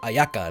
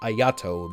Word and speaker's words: Ayaka: Kamisato Ayaka, not Ayato. You guys are who? Who is that? Alright, so I made a mistake here. Kamisato Ayato is actually Ayaka's elder brother, from what